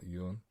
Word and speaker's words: Yun: Yoon. So up. So if you do the accent, it goes up. Yoon.